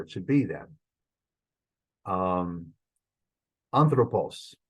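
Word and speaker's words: ἄνθρωπος: should be then um anthropos first syllable that's where it's going to be unless the rules make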